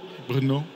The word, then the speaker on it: Brno: How is it pronounced? The city here. Brno. Brno? Brno.